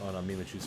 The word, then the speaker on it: Mimikyu: show or whatever, with all the makeup on Mimikyu's face.